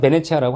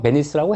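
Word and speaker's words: Venezia: 같은 얘기로 베네치아라고 나와요 이태리 애들 본토말은 베네치아라고 하고요 우린 영어식 발음은 베니스라고 해요 수중도시야 수중도씨인데 여기에 이렇게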